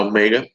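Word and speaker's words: ω: nos está diciendo la omega, se escribe con W, pero se pronuncia omega, nos dice cuántos ciclos por segundo, ¿sí?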